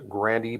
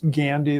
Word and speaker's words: Gandy: if I could mayor you mispronounced his name is Gandy there's no r well we'll correct the